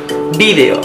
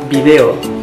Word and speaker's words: vídeo: Yo digo vídeo. Aquí en Ecuador dice video, con el acento en la E. Video, sí. En España se dice vídeo, ¿ok?